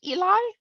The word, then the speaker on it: Eli: Jane tells us that her Eli, is that how you say it, Eli?